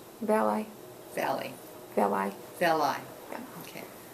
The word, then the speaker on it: Valeii: Valeii.